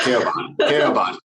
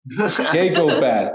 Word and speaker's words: Keyghobad: Is that the way you pronounce it? Keyghobad. Keyghobad, or there you go. The key guy that goes bad, something like that?